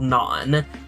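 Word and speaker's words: Knon: He is half-human, half-drow elf, and he hails from a lost kingdom called Non, that's spelled K-N-O-N.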